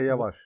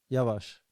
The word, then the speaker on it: Yavaş: Yeah, Yavaş. Yavaş. So you pronounce really good, by the way. So the emphasis is on the first A.